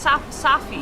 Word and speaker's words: Safi: They pronounce Sophie as Safi? Yeah, it's Safi.